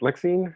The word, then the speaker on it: Lexine: Is it Lexine? Is that how it's pronounced? That's right. Yes.